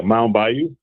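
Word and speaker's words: Mound Bayou: Mount Bayou. Okay. I want to make sure I pronounce it properly.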